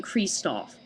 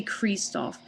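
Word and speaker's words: Kristoph: the name Christopher whereas I say Kristoff I guess that came from the fact that he's European and I guess that was my interpretation of how other Europe how other European people might say his name so I guess just like the pronunciation that got in my head just never got out I'm probably always going to say cre Stu so that's just me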